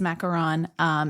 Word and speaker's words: macaron: But yes, technically it is macaron. It is spelled with one O, Macaron. And then you have the macaroon, which is technically the meringue and coconut confection that's usually like dipped in chocolate. That has two O's.